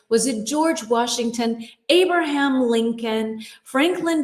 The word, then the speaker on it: Lincoln: The L in Lincoln, the second L, is silent. Lincoln, Lincoln.